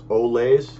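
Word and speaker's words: Olaes: And again, it's Olays, which is spelled O-L-A-E-S, modular bandage, 6-inch.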